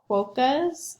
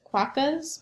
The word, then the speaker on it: quokka: these animals called the quokkas that's how you pronounce it qua cos maybe and they live in